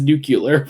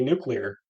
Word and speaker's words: nuclear: Superman movie he's in he says nucular for some reason I just don't think Jean hman can say nuclear yeah and also it's also it's also for some reason just a weird like common mispronunciation I know people IRL